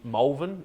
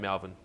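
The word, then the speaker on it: Malvern: are comfortable with like you're in molven that's the right pronunciation doing a high-end job we've got a melvin adelaide saying melvin i think you say molven like you don't want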